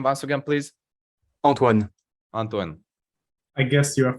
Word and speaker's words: Antoine: in your say your name once again please Antoine Antoine I guess you're a French right exactly